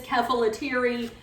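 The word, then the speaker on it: Kefalotyri: in the past, and I'm not even certain that I'm saying it right, but I believe it is Kefalatiri. It looks like phonetic to me.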